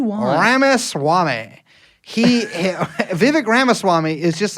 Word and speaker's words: Ramaswamy: it's like could be a lot of people Rama Swami how do you want me to say it's it's ramaswami you say it however you want Ramis Swami he Vivic ramaswami is just like he's like one of these